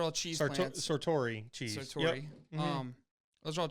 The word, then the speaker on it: Sartori: Master Gallery Foods, Great Lakes Cheese, and Sartoro. I don't know if I said that wrong. Those are all cheese plants. Sartori cheese. Sartori.